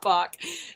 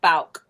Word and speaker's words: Bouck: I just knew it as Bouck. And I bet you people literally called it Bouck, but it's not Bouck. Bouck. It's not Bouck. It's like Bouck. That's how you say it, Bouck.